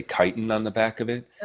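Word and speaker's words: chitin: read a label for I might be pronouncing this wrong but for example kiten it's like CH kiten I um I'm not the I can't remember how to spell it but it's called kiten I believe it's how it's pronounced that's an ingredient that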